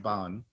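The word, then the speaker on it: בן: So he's going to say here, what he's saying here is that Ben, Ban, it's usually pronounced Ban, although it looks like Ben, is something that must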